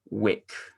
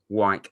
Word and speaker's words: Wyke: Another player we're linked with is Charlie Wick from Sunderland. Wyke. I said it wrong. You literally told me before we did this how to say it, and I still got it wrong.